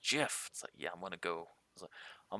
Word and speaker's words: GIF: where as you know gif gif it's like he's like it's pronounced jiff yeah I'm gonna go